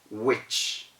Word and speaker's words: which: of just the w the h goes completely silent because wh is a digraph and this is the